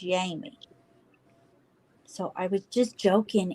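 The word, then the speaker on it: Jaime: a i m me her her name is spelled that way but she says it's yamie so I was just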